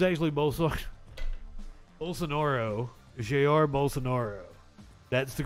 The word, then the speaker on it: Bolsonaro: actually his name's actually both sucks bolsonaro Jr bolsonaro that's the correct pronunciation I've been it up